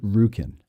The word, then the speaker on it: Roukin: You pronounce it Roukin. That's how it's pronounced.